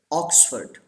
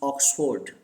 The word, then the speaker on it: Oxford: Say this word: Oxford. This R is silent here. Don't pronounce Oxford.